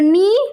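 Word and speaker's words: knee: फिर नी, नी मीन्स घुटना होता है, यहाँ पे के है हमारा साइलेंट।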